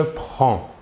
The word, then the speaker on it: prends: Nous voyons ici que la prononciation est la même pour les 3 premières personnes. Le S final des 2 premières personnes ne se prononceront pas, mais s'écrivent.